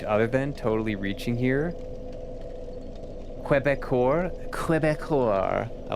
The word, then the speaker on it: Quebecor: Don't need to pronounce the que of que, you just pronounce it Quebec. Quebecor.